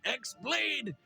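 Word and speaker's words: χ-blade: Yeah, it means the X-Blade. It's just pronounced like Keyblade, even though it's just one Keyblade.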